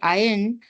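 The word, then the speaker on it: iron: आई कैन से yes please remember to से आयरन सो it will rhyme with लायन एडवरटाइजर्स advertise advertisements and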